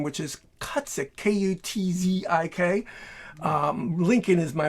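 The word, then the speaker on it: Kutzik: and they had my last name which is cutsick k-u-t-z-i-k um lincoln is my middle name and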